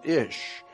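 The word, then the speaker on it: אִישׁ: Hebrew word for man ish here's another reference work that said interesting the words for man and woman in Hebrew is identical man in Hebrew is pronounced ish and looks like this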